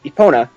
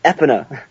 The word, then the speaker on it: Epona: throughout the entire game i've pronounced it epona yes it's epona not epina yeah this is mido's